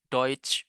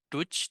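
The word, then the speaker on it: Deutsch: Jadi bahasa Jerman itu deut ya teman-teman ya. Tulisannya emang agak susah nih. Tapi bentar T. Sor deutch bacanya deut ya bukan duch tapi deutch. Oke, selanjutnya Mas Ricky udah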